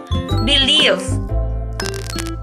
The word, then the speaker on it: believe: spelling first we have believe and correct spelling believe the tricky part here is the pronunciation of the e i e combination and believe the i e makes a long e sound like Eve however and believe it's